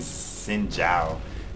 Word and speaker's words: Xin Zhao: But fortunately, Xin Zhao cleaned up my mess. That's how you pronounce his name.